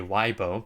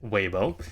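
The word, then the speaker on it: Weibo: so webo all right I'm pretty sure it's pronounced waybo uh I know people like to say WBO but it is webo um but WB here is a Chinese uh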